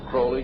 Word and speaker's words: Crowley: have his name pronounced Crowley to rhyme with holy and uh the satanists